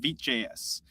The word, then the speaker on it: Vite.js: Number two, Vite.js is pronounced Vite.js.